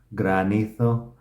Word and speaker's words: granito: here um granito gra granito you have to pronounce kind of the Spanish R it's not granizo but